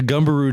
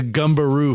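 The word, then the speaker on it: Gumberoo: Uh, we are going to talk about the gumbaroo first. Gumbaroo. The gumbaroo. Gu M like gum. Sounds like a kangaroo that goes like boing. Gu m b e r o.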